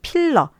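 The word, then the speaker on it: peel: 모음이에요 그래서 아이거든요 어 이렇게 긴 발음을 해 주셔야 되고요 여러분들이 혹시나 짧게 발음을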